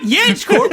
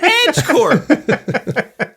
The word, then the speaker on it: Edge Corp: ased cor or yeah it's not jedge Corp it's Edge Corp anyway that's the other